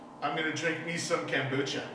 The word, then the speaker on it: kombucha: gonna drink me some kombucha. I don't even think you're saying it right. I think it's kombucha. Kombucha? Kombucha. Kombucha. You never say it like that. Why'd you put that emphasis on it?